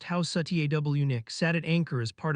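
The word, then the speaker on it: Housatonic: Out on the water, the Union warship USS Houseonic pronounced House Satwick sat at anchor as part of the blockade.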